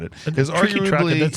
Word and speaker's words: Triqui Traca: Mi Querida Triqui Traca, pronounced. What I just said it is Triqui Traca, arguably that sounds like a Polynesian god.